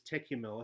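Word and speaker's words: Tékumel: Well, most people pronounce this Tekumel. I think it's meant to be pronounced Tekumei. But I'm just saying Tekumel. That seems to be what everyone else says.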